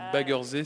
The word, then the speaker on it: Baggersee: Par contre, Baggersee, non, c'est Baggersee, c'est à l'allemand, le lac en allemand.